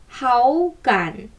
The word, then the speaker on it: 好感: 好感은 삼성입니다. 이렇게 삼성이 연이어서 오면 앞에 삼성은 몇 성이 되죠? 그렇죠. 2성으로 올라가죠. 발음해볼게요. 好感.